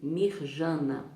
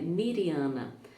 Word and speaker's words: Mirjana: ou no vídeo passado eu falei mirjana mas a forma correta de pronunciar o nome dela é Mariana a Mariana Souto ela